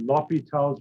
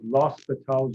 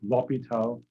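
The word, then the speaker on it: L'Hôpital: limits again something called lopital's room it says los patel's route it's actually easy to pronounce if you leave off the s that's the way it is in french i guess l'hopital and i think that's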